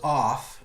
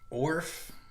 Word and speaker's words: OFRF: So yeah, I heard somebody say that it was off, right? And I was like, off? Just the R is silent? Like it's not ORF?